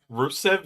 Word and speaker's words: Rusev: Um, Like, not to be rude, but Rusev is exactly how it sounds. Like it's spelled exactly how it sounds. R U SV.